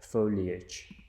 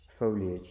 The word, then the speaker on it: foliage: the pronunciation it's different it's not fully ugh it's not full rich it's a foliage foliage so you can fix